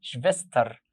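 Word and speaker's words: Schwester: سيستر الاخت بنقول شفستر.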